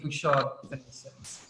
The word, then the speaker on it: Bouchard Finlayson: Bouchard from Bouchard Fils, so the correct pronunciation, international pronunciation, would be Bouchard Finlayson, but we pronounce it Bouchard Finlayson.